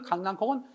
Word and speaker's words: 강낭콩: 그래서 원래는 강남콩이 맞아. 근데 강남콩 하다 보니까 어떻게 돼요? 발음이 어려워. 그래서 쉬운 쪽으로 사람들이 자꾸 강낭콩 연국에 음화시켜서 표현하다 보니까 그것이 굳어졌어. 그러니까 강낭콩이라고 해야 사람들이 많이 하는데 강남콩이라고 해야 돼 라고 굳이 어원을 추종해서 그런 방향으로 돌리다 보니까 너무 언중들이 어려움이 많다는 거지. 그래서 현실 생활 속에서 언중들이 발음하는 요소를 고려해서 강낭콩을 표준으로 삼게 된 거야.